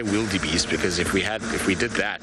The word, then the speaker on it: wildebeest: Wildebeest is how you should be saying, which is an Afrikaans word. So you can't say a wee sound like we would in English.